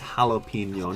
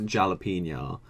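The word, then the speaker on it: jalapeño: got to Google that jalapeno it's jalapeno not jalapeno oh my God it's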